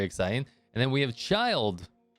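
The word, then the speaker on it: Childe: and then we have child or child day or i don't i think the first way i pronounced it was actually correct uh which we know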